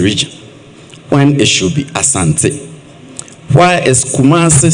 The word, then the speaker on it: Asante: Let me ask, why do we still insist on calling it Ashanti Region when it should be Asante?